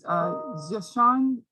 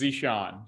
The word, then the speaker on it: Zesean: Next, Is it Jashan? Jashan? I'm so sorry if I'm pronouncing it wrong. No, you're good. It's Zishan.